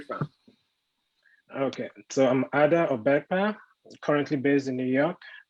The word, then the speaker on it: Obekpa: Obekpa? Yeah, Obekpa. Yeah. Just pronounce as written.